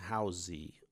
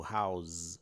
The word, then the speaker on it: house: a gente pronuncia, né, housey ou house com z, né, durante anos para chegar numa aula de pronúncia em inglês e descobrir que se pronuncia house com s e não com som de z.